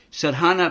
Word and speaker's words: Sadhana: Sadhana, pronounced Sadhana, is an Indian word rich in meaning, such as discipline, a technique, spiritual exercises, and approach to God.